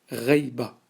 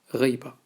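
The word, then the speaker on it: غيبة: Le mot absence, en arabe, c'est le mot reiba. Et ça tombe bien parce qu'il se prononce comme on l'écrit en phonétique. Absence, en arabe, on le dit reiba.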